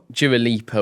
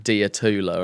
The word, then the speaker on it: Dua Lipa: Oh, you were mispronouncing a lot of people. I think you said Dua Lipa. What's she called? Dia Tula or something.